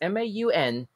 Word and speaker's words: Maunganui: mount maunganui i'm not really sure how to pronounce this word hang on a second i don't know if y'all can see this m-a-u-n-g-a-n-u-i maunganui okay told the guardian that his family